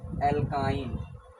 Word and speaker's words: alkyne: अब उसी तरह एक आता है तीसरा type, एल्काइन। एल्काइन, Surasa dine नहीं, एल्काइन बोल रहे हैं, कार्य करिए। देखिए एल्काइन का स्पेलिंग देखिए, ALKYNE।